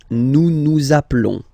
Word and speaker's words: nous nous appelons: And then little link would be perfect, so let's pronounce the whole thing again. Nous nous appelons. Nous nous appelons. Okay, final S doesn't exist.